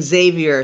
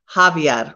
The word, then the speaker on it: Javier: hey have you okay i was saying xavier so it's javier okay forgive me thank you